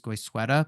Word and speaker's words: Goizueta: We're also going to hear today from Melissa Rap who's the associate dean of graduate admissions at Emry's Guysa Business School down in Atlanta.